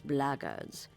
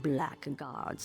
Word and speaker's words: blackguards: If you're another one of those blackguards, and that's the way to pronounce it, not blackguards like that thug insisted it was, then my answer is the same.